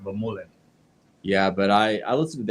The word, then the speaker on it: Vermeulen: I listened to Keegan and Alexi Vermeulen. Sorry, Alexi. Vermeulen. I was kind of hoping for Alexi to do a little bit better. Say his name wrong. No, you gotta say the name right. Vermeulen.